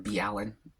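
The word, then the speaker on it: MrBallen: I keep wanting to say Mr. B. Allen because that's actually how it's pronounced, but I'm trying to keep things consistent, so I say Mr. Ballin.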